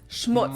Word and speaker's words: Schmutz: but not least, the final word on my list is schmutz. Schmutz. This one is Schmutz. pronounced and used the same way in both languages, and it means dirt.